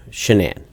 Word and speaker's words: Shanann: And I don't want to pronounce her name wrong. Shanann.